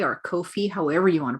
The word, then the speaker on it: Ko-fi: ca we have a kofi or kofi however you want to pronounce that um i go with kofi because coffee that's what i do